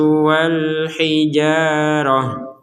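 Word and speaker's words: والحجارة: Kalau berhenti di ta seperti ini maka menjadi huruf ha. Wal hijarah. Wal hijarah. Jadi tidak dibaca ta.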